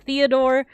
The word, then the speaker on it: Theodore: Oh yeah, so moving on, we got Theodore. Like I said, there's no TH, so it would just be Theodore.